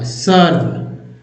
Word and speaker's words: serve: और देखिए अगर मान लीजिए लिखते हैं SERVE, अब देखिए एक ई यहाँ एक ई यहाँ है, एक ई के पहले भी है, एक ई के पहले एस है, लेकिन दोनों ई का उच्चारण जो है आ के रूप में होगा। सर्व, क्या पढ़ते हैं? सर्व।